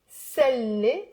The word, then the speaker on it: بسلي: Sa and sa. So ana salli. Put the b to the ana to make it easier. Ana أنا بسلي, I entertain. أنا بص with the a. أنا بصلي, I pray. Did you hear the difference?